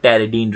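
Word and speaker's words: pteridine: इसमें टेरिडीन रिंग होती है। पी साइलेंट होता है।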